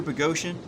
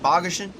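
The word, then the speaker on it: Boghossian: it was from peter pagosian it spells his name spelled like bogusen and he doesn't like it when you say that um but he he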